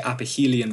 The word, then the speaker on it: aphelion: I always say aphelion because it's helios rather than phelios.